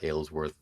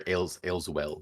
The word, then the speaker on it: Ayleswell: You've had a Aylesworth or 95. sorry, Ayleswell. That's what it is. Ayleswell. Ayleswell, excuse me. Yeah. I wrote it right. I just said it wrong.